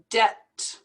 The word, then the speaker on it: debt: word we pronounce these two l's gorilla gorilla debt we don't pronounce that be dead and then we have